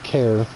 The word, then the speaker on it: Kerr: Our original family name was pronounced Kerr. It was spelled K-E-R-R.